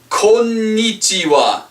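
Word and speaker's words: こんにちは: Alright, and we pronounce this konnichiwa. Konnichiwa. Hai, konnichiwa. Konnichiwa. This is the hawa.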